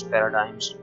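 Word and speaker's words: paradigms: ठीक है, यहाँ पे जो ना इम्पेरेटिव पैराडिग्म्स पैराडाइम्स मतलब मुख्तलिफ टर्म्स के लिहाज से हम प्रोनाउंस करते हैं, से प्रोनाउंसिएशन अलग से होती है। मैं इसको पैराडिग्म्स प्रोनाउन करूँगा। ये वर्ड है पैराडाइम्स, ठीक है, यूएसए पैराडाइम्स, इम्पेरेटिव पैराडाइम्स, ठीक है।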